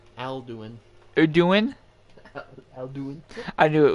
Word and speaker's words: Alduin: Is it it's pronounced Aduin? Alduin.